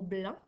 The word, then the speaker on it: blanc: Donc, dans le mot blanc, tu as l'équipe AN qui s'écrit A-N et tu as également un C muet à la fin. Donc, on ne doit pas le prononcer.